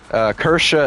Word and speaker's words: Kirsche: Kersha is spelled Kirsche.